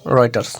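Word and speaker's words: Reuters: এখানে টেক্সট রয়েটারস এখানে এর প্রোনাউন্সিয়েশন হবে রয়েটারস ওকে এই রয়েটারস কি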